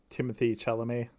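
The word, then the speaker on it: Timothée Chalamet: Timothy Chalamet. Oh, really? Oh, that's fairly easy, actually. Kind of like the way it's... Just keep the T yeah, silent.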